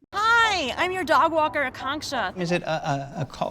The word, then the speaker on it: Akanksha: i'm your dog walker akongsha is it a a shot oh it's pronounced a conksta just think of a conk shell the app said you